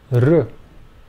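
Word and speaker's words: ऋ: the next pair of vowels are pronounced R this is the vowel sound sound in the name Krishna R the long version of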